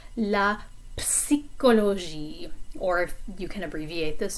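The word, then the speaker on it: psychologie: social sciences listoir la psychology this one is kind of a funny word because you do pronounce the p when you say psychology in french in english it's silent but for this one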